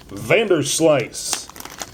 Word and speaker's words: Vanderslice: is a wonderful invention from the Vanderslice brothers pronounced Vanderslice this is really cool so these are 3d